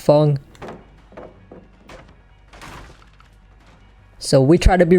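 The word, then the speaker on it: Feng: got a Fong before I used to call this Fang but apparently it's pronounced Fong so we try to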